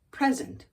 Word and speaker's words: present: like that come on the word today is p r s e n t present present short e present what's a present a